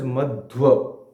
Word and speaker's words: Madhva: So this is pronounced as Madhva because there is another scholar by the name of Madhavacharya, but he is a separate. So Madhvacharya and Madhavacharya are separate persons.